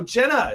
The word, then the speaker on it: JNA: But also have our guest in studio, Jenna. It's spelled JNA. It's actually the initials of her own kids.